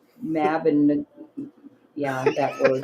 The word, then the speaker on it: Mabinogion: says, I would have based solely on Chris pronouncing Mabinogion. Yeah, that word correctly. Mabinogion.